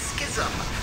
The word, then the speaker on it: schism: And yes, I am pronouncing schism correctly. I had a lot of comments in yesterday's video saying that it should be pronounced schism, but they're actually both correct. Well, kind of. Schism is the original pronunciation, but schism has become so common, especially in North America, that it is now also considered acceptable. Anyway, whatever happened here at